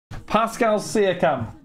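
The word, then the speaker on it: Pascal Siakam: Dorito from Co you want some or what Pascal cam that's how you say his name there we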